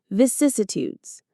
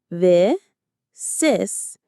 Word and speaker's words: vicissitudes: Vicissitudes. Visitudes. Vicissitudes. The stress is on the second syllable. Cis. Vicissitudes.